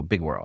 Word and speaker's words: Big World: So it world, but nobody pronounces the D. So big whirl.